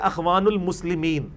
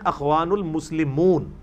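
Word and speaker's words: إخوان المسلمون: بول رہے ہوتے ہیں اخوان المسلمین، یہ اخوان المسلمین نہیں ہے، جماعت کا نام ہے اخوان المسلمون، اصل میں لفظ مسلمون ہے۔ میں نے بتایا ہر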